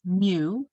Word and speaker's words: mu: about a population mean we use the symbol mu which is a greek letter m and we talk about the sample mean we use an x with a bar on top so again this is pronounced mu and it's the greek letter m it's a